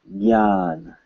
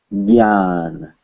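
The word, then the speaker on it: ज्ञान: It's pronounced gya. Gya. At least by Hindi speakers.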